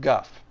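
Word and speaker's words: Gough: For example, in Dark Souls, there is a character named Guff, G-O-U-G-H, that I've heard many, many, many people call Go instead of Guff.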